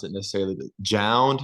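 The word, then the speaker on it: JJJJound: pronounce it necessarily, but Jound. It's like the three Down, yeah, J's, it's Jound, down.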